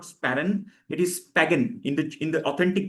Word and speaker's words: sparen: You know sparen meaning saving s p a r e n. The authentic pronunciation is not sparen it is spagen.